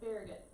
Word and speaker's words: Farragut: You're putting a French pronunciation on the last part for some reason, so Farragut.